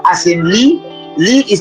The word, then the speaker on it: lit: Now we have the E as in lit. Lit is spelled L-I-T, and that is bed in French.